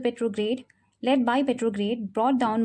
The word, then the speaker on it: Petrograd: राज़ी किया जो ये पेट्रोग्राड सोवियत है? इसका प्रोनाउंसिएशन एक्चुअल में यही सही है, इट्स नॉट पेट्रोग्रेड, इट्स पेट्रोग्राड, सो आई am improving it नाउ.